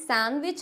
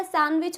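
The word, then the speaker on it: sandwich: होता है silent friends सैंडविच होता है या सैंडविच होता है इट्स सैंडविच नॉट सैंडविच इसमें डी होता है साइलेंट इसमें भी डी नहीं बोला जाता है क्योंकि मैंने तो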